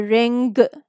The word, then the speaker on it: ring: This sound is a little typical because here we do not pronounce letter G so prominently. We don't say ring, we say ring. Sing, ding dong, ding dong. We don't say ding dong. So don't emphasize on the g sound.